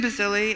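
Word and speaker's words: Bazilli: from uh uh basili who's the director of the international women's rights project sorry if I mispronounced your name I just real thank you it's Bazil and I just wanted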